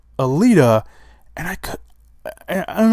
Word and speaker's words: Alita: I've always called it Atilla battle Angel and I don't think it's pronounced a Tilla I've always been calling it a Tilla battle angel I think it's pronounced Alita and I could I